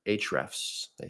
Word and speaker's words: Ahrefs: Then you also get the SEMrush, which is a competitor to Ahrefs or Hrefs. They pronounce it differently, where you'll be able to look at rich keywords, topics, and things.